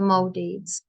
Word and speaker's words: Maldives: should say the Maldives actually pronunciation is the Maldives so which of these